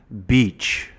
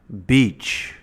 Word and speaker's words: beach: Beach. Beach. So the focus here is on the EA. This letter combination makes a long E sound.